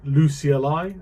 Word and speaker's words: Lucee: So here's the version of Lucy. Uh how do you say it? I say Lucy just because Misha likes to say Lucy. Uh it's officially Luci as you can see the pronunciation here.